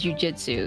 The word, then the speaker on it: jujutsu: Oh, so it can be pronounced as jujitsu. It's just, Ah. yeah, it says jujutsu or jiu-jitsu or jujitsu.